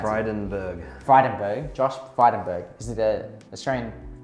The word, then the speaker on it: Frydenberg: This Josh guy, Josh, how do you even pronounce it? Frydenberg, Josh Frydenberg, is the Australian Treasurer.